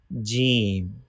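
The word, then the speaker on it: ج: Middle part of tongue touching with middle part of palate. From here we can pronounce Jeem.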